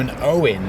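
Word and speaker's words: Eoghan: one's from this one's from an Owen that is spelled e o g h a n and he says um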